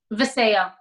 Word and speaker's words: Vasayo: Okay, one more thing before you jump off, and that is the correct pronunciation of the company. Vasayo. Okay, good. That's the way I was going to say it. Vasayo.